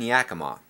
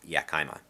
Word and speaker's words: Yakima: he grew up in yakima eastern washington it is not pronounced yakima just for you non-washingtonians and he said he